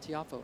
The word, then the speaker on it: Tiafoe: said to francis's Father how do you say the name and he said tifo and then he said actually it's kind of a French sounding name it's more like Tia something like that which wasn't going to